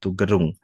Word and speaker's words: Gerung: Beliau adalah guru kimia atau guru IPA, guru terapan projek IPAS yang bertugas di SMK Negeri 1 Gerung. Gerung ya, Bu ya?